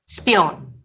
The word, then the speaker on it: Spione: In German, it's pronounced Spione, I think.